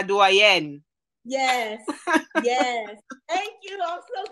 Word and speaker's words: doyenne: That is doyenne is French, right? So I'm going to say it like we say in French, la doyenne.